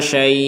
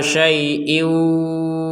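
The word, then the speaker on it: شيء: Jadi yang awalnya tadi itu panjang karena kita berhenti ala syai', itu kan panjang 6 harokat. Kalau disambung maka panjangnya hilang. Jadi tidak ada panjang sama sekali, bahkan 2 harokat pun nggak ada. Jadi langsung ala syai'in.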